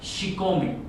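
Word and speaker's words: chicome: Y el 7 se pronuncia Xicome, Xicome en náhuatl.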